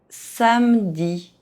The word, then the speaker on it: samedi: Samedi. Two consonants, E is dropped.